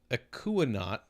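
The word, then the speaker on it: Ekuanot: Featuring El Dorado, Akuanot. Am I saying that right? Akuanot. That's the only way I can think. Akuano? The T is silent. I think it's French.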